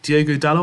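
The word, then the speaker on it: Diogo Dalot: you've got dallas um diego dallow i think that's how he pronounces um his name he played really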